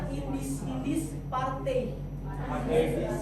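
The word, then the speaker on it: Indische Partij: Tapi bacanya Indis Party.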